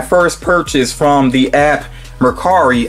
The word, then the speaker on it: Mercari: purchase from the app Mercari, I think is how you say it. That's how I've heard some other people pronounce it.